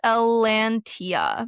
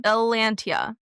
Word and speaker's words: Elentiya: There's First of all, let me tell you how it's pronounced. It's pronounced Elantia. Elantia. Elantia.